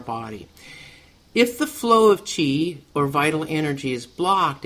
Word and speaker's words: Qi: before right they have the what it's called Chi sometimes we'll call it the life force you know but and it's spelled Qi not but it pronounced Chi and it's the vital energy that flows along